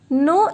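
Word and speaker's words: non: No in French is no. We don't pronounce the last consonant in French.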